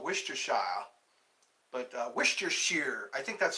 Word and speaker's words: Worcestershire: That's what the Worcestershire. Okay, I remember that Worcestershire. I was reading that and I go, what's Worcestershire? Worcestershire. It sounds like an English, you know, a British. I am from Worcestershire.